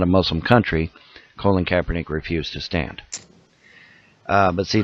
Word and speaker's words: Colin Kaepernick: You're saying his name wrong. It's Colin Kaepernick.